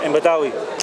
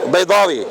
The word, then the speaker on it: Baydawi: Imam Badawi. Who? Baydawi.